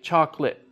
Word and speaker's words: chocolate: And so even though you still spell all of those syllables, native speakers now say chocolate.